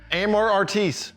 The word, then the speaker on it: Amor Artis: I'm Aaron Gore, and I'm here with Travis Tolson from Amor Artis. Amor that's how it's pronounced.